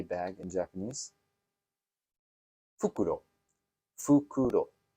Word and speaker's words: fukuro: Fukuro. Right. But not fukuro, which is an owl, right?